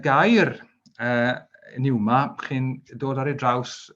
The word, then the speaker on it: pneuma: Wel, y gair mae Paul yma yn ei iwso yn y Groeg yw pneuma, a mae yna silent P yn y fan hyn eto.